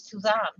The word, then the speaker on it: Suzanne: Or Suzanne. Suzanne? That's how it's pronounced in French, Suzanne.